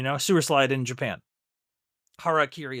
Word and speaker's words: harakiri: Harakiri is the term for that. And back in the day, in the old world war days, the Harry Kerry is how they would pronounce it. you know, the good old boys from the forces. So, he might be saying it wrong and as a result,